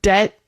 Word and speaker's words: debt: consonant like friendship friendship but in the case of debt or doubt you're not going to ever pronounce that B even if you're saying it slowly.